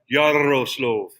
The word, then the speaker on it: Yaroslav: Yaroslav. You got to roll the R. Roll your R. Yaroslav.